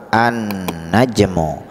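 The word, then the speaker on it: النجم: nah sedangkan disebelahnya itu Isim ma'rifah yang mempunyai yang mengandung arti tertentu atau khusus ada Alif dan lam an najmu cara bacanya pun satu dhomah tidak boleh dua Thomas jadi mo an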